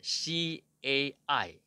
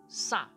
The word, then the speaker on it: 蔡: 华语蔡有两个读音，一个是 CAI 第四声蔡，和蔬菜的蔡同音，还有一个是 SA，汉语拼音是 SA 第四